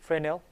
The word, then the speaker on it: Fresnel: s n e l but it's pronounced frenel fresnel equation and then